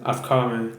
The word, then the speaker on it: Afghani: Afghani. Okay. Silent H.